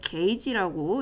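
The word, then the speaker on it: gauge: 그 주사 바늘의 크기는 G라고 사용하지만 읽을 때는 게이지라고 읽어주셔야겠어요.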